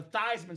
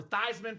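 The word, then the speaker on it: Theismann: They said, "Let's change it from the toyman so we can go for Thyman for the Heisman."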